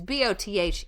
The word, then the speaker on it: Bothnia: in the Gulf of Bothania. Bothania. I don't know how to say it. It's Bothnia. Nia.